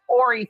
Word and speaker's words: Horry: you're saying incorrectly is Horry County. Horry County. Yeah. Well, that's been my constant kryptonite, saying names correctly. It's Horry County. The H is silent, and her name is Mica Francis.